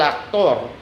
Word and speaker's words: actor: El actor, which is the actor in Spanish. Spanish words ending in or carry stress that last syllable on the last syllable.